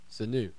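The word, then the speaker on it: Sanó: Sanu.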